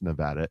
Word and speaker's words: Nevada: See, in Missouri, we got names like there's a town called Nevada, but it's not pronounced Nevada. It's spelled Nevada, but it's pronounced Nevada.